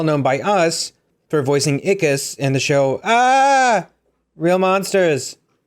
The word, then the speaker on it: Ickis: Joe, Smurfs, and he's well known by us for voicing Ickis in the show, Real Monsters.